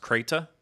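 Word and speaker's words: Crait: will be it'll be, I believe it's pronounced Krayt, and that is the mining planet. I read it as Crate, so I don't know. Yeah, it's spelled. It looked like it was spelled that way, but they said it out loud to you. Yeah, so it is Crate.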